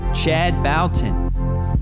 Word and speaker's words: Chad Bouton: enjoy it everyone chad balton welcome to the see-through podcast did i get your name wrong no you did not you got it perfectly correct yeah luckily my name